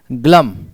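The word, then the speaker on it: glum: इसे याद करने की ट्रिक देखो, मैंने कहा बच्चे यहां एल को साइलेंट करो, एल को साइलेंट करो, बताओ क्या बचा? जब आपने एल को साइलेंट किया तो क्या बचा? गम।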